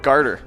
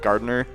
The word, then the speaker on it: garter snake: that it's not okay so it is a gardener gartner snake don't garter garter snake yeah that's right that's gardener's snake does not exist wow it was definitely one of those southern ways of pronouncing it that's made it sound like gardner yeah for sure and